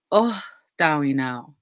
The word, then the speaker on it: oh dawinau: And I asked her about that word, and she said the proper way to say it is actually oh dawinau, not no, like take the N away.